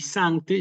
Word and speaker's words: sancte: corregir sí Eh entonces sinum y sancte llevan efectivamente su acento no obligatorio sí no es obligatorio Que aparezca en los textos en la letra i como les marco aquí y en la letra a sí Ese es el